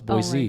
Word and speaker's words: Boise: No, it's Boise.